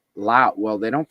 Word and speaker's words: Laos: So this is in the country of Lao. Lao. Well, they don't pronounce the S. Westerners pronounce it Laos, but but in Lao, they don't pronounce it with the S.